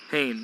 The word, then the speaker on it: Hain: It's Hain? Hain, yep. Not Home? Hain is the way it's always been pronounced by the ones here.